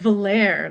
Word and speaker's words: Valere: We have, I'm assuming she pronounces her name Valerie or Valerie or Oh, something see, I along say those. it Valere, like Ooh, it's French. nice.